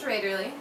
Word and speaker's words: Raederle: So, if you missed it, my name is Raiderly and that's spelled R A D E R L E.